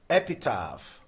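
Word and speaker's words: epitaph: Epitap. Epitap. This underlined letter PH contains the sound F.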